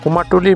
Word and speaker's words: কুমারটুলি: দুর্গাপূজার প্রথা শুরু করেন কুমারটুলির মৃতশিল্পীরা সাধারণত মাটির বন্ধুত্বপূর্ণ উপকরণ ব্যবহার করে প্রতিমা তৈরি করেন কুমারটুলি কথ্য উচ্চারণে কুমরটুলি কলকাতার উত্তরভাগে অবস্থিত একটি